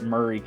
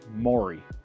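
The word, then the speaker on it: Maury: I learned down here so they're going to call it muray County to me I look at it it's spelled like Mory right like like Mory poic on TV and so and my wife gives me crap about it all the time because I I think it's Mory but they call it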